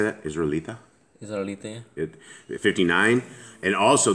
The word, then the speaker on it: Israelita: Israelita?